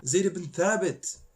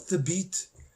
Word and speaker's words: Zayd ibn Thabit: Zayd ibn Thabit, not Thabit.